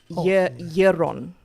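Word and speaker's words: Yaeron: And he gives me his name, which is uh so it's spelled Y A E R O N Yon.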